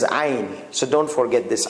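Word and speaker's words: عين: You have to squeeze it. So like somebody strangling you. So you do, because you have muscles here. The muscles, they squeeze on this windpipe. Let's see. Like it goes like narrow. So it's very easy. So this is ayn.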